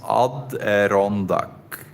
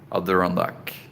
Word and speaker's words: Adirondack: Sean Perry says it's pronounced Adirondack Mountains. Adirondack.